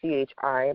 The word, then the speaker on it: qi: life force it's it's it sounds like Chi but it's spelled qi um so what it